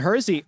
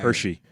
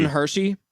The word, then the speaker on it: Hershey: Morgan, Milton Hersey, also canceled at the last moment and survived to build the Hersey food empire. Hershey. Oh, is it a typo? No, it's Hershey. Milton Hershey.